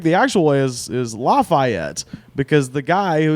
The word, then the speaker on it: Lafayette: actual way is is Lafayette because the guy who it's named after Marquis de Lafayette and that's how he pronounces his name yeah anyway point is